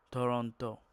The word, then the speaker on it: Toronto: La fin est légère. Toronto.